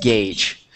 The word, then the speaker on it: gauge: So it's pronounced gauge.